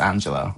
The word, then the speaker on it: Angela: And it is unfortunately pronounced Angela, I'm afraid.